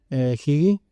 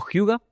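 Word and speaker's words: hygge: Higi, ¿sí? Higi, ¿lo dije? Higi, bueno, a ver, si nos ponemos técnico, Hyuga. ¿Hyuga? Hyuga con acento danés. Pero para el público español, Hige está más que bien pronunciado.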